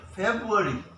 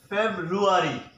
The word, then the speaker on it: February: Wednesday what it is many people pronounce it February February the right pronunciation of this word is febrile Febraury are not favored ok not supported the correct pronunciation is February fair rule re what